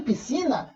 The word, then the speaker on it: piscina: Em piscina, o SC tem o som só do S. Na representação fonética eu faço isso, ó. Piscina. Duas letras, um só som.